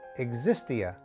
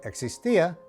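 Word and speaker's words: existía: underneath tip number three whenever you see an accent over letter that is where the stress of the pronunciation will be for example this word would not be pronounced existia but instead existia because the accent is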